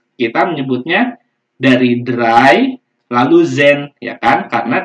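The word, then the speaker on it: zehn: Tadi huruf Z-nya di depan, ya, Zen. Ya, kita biasa ngomongnya Zen, gini ya.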